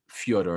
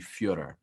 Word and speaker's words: Fyodor: happy you brought up fyodor a millionaire i'm happy you mentioned him you know it's it's actually fiora that's all russian you're michael now you